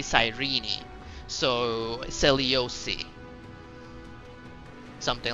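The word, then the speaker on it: Cyrene: r e n e I thought was sirene but it's actually apparently sirene so seliosi something like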